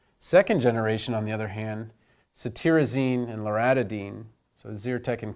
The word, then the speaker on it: cetirizine: This TIR in cetirizine is pronounced tear, so you can think of tearing from allergy eyes.